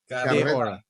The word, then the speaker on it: Carreta de Oro: Carreta de Oro.